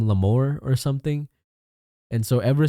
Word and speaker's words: Lamore: Lamour. But no, it's pronounced lamore. Lam more. So like you know you know English like more you just add la to the beginning.